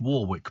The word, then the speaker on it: Warwick: quite clearly rehearsed Dion Warwick and it is pronounced Warwick by the way you have to be a